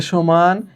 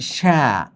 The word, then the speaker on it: সে: তার মানে এগুলোতে এ সমান এ হবে। কিরকম? কে, সে, এখানে কিন্তু এটার উচ্চারণ তুমি এইভাবে ক্যা এভাবে বলতে পারবা না। এটার উচ্চারণ তুমি শ্যা এভাবে বলতে পারবা না। তোমাকে বলতে হবে কে।